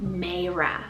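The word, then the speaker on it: Maira: girl's side we have the name meira spell m-a-i-r-a-mera isn't that beautiful it means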